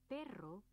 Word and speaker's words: perro: Many pairs of words are distinguished only by the difference in these two sounds, so it is important to pronounce them accurately. For example, pero means but. Perro means dog.